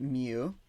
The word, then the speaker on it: mu: We pronounce it mu.